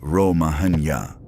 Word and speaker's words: Romagna: Cesare did not tell anyone he was about to conquer the Romagna, pronounced Ro-ma-nya.